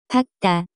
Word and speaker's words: 밝다: The pronunciation of this word is closer to 밝다.